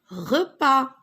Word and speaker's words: repas: C'est un repas. C'est un repas. On prend notre repas à midi. Le soir, le repas. Alors regardez, repas, repas. La lettre S, vous ne l'entendez pas. On ne la prononce pas.